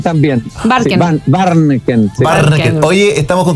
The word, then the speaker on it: Warnken: Es un apellido difícil de pronunciar, pero hace tiempo que no lo pronuncian tan bien. Barken. Barneken.